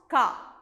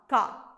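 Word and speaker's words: क: It is pronounced Ka, a short sound, Ka.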